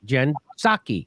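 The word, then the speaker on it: Psaki: and it they asked jen saki you're not supposed to pronounce the p gensake which is what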